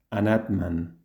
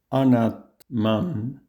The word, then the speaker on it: anatman: En sánscrito, la forma correcta de pronunciarlo sería la siguiente. Nirvana. 5. Anatman.